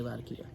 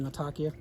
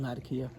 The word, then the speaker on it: Latakia: a lot of key I'd say Latakia if I'm talking to someone and they're saying natakia that's what I'd say anyway I may just start saying Latakia because that's what everyone that's how everyone pronounces it here and that component can